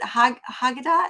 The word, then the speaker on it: Haggadah: Haggadah? Is that how you Haggadah. Haggadah? Haggadah. Okay, I was close in my Yeah, pronunciation.